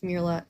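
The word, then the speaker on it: MiraLAX: Mirax. No, it is Mirax. That's how you say it.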